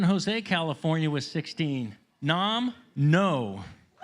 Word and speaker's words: Ngo: San Jose, California with 16, Nam No. That's NGO, like, I think it's pronounced no.